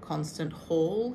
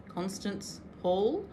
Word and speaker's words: Constance Hall: So that's by a lady called Constant Hall here in Australia. Constance Hall. In case I said it wrong the first time.